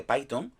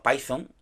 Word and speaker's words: Python: tanto yo creo que payton o bueno paixón hay gente que lo pronuncia sí paixón en mi empresa